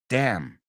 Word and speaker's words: damn: Did I pronounce the N? I didn't say damn because the N's silent. Damn.